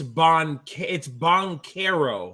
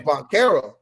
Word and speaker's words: Banchero: It's Banchero, by the way. Oh, it's Banchero. Like Italian. Paolo Neapolitan James Banchero. Yeah, no, he's super Italian. We've been saying this man's name wrong the whole time. I was saying it like he was Portuguese.